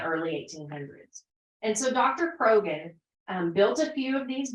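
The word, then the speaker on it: Croghan: was a doctor um I call him Dr Crogan some people pronounce that Dr KRON but he came here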